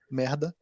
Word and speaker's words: merda: You really pronounce the R like mierda in Spanish. They have an R that rolls, mierda. In Portuguese, you don't really need that. You just say merda, just me.